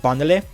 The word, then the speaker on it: Bandele: Okay, so Robbie asked, where did my name Bandele come from? Which is actually pronounced like Bandele, if you actually pronounce it correctly.